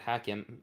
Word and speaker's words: Hakim: My name, I write it Hakim, but I pronounce it Hakeem. In Arabic, it's only Hakeem, though. Hakeem is colloquial for doctor. Hakim is like ruler.